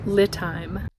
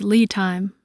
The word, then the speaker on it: LiTime: installing a battery monitor by lit time whoops I mispronounced it it's Lee time so this is going